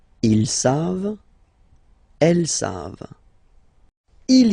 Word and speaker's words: savent: E-N-T, you don't pronounce it, so you get the sound savent, v-v-v-v, savent, okay? Ils savent, elles savent.